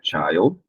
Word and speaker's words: child: Nós temos o child, e aí o som muda, né? O som da vogal I muda de acordo com a palavra. No singular é child, no plural é children, ok?